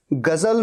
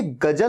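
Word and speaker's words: ग़ज़ल: कभी भी देखिएगा, गजल में ज के नीचे बिंदु होता है। ऐसा नहीं होगा कि बिंदु नहीं होगा। ये गजल नहीं है, गजल, गजल नहीं, गजल, गजल, गजल। और इसीलिए स्पेलिंग में Z होता है।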